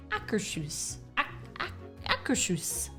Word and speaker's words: Akershus: close in in verbiage we did ask several of the Norwegians how to say the name of the restaurant and their shoes yeah hacker shoes the r in the kind of go together and then and then the end is hoos as in house hoose